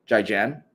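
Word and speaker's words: 再见: Jai Jan. Zaijian.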